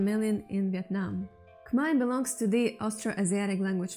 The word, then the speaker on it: Khmer: Swasday, and welcome to the Khmer language. Yes, it is pronounced Khmer, not Khmer.